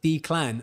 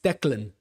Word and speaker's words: Declan: And you're like, yeah, but it sounded like Dclan. And I'm like, no, it's Declan.